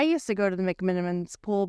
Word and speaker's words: McMenamins: to go to the McMenamins pool before I say McMenamins wrong did I say it right that time you did that say oh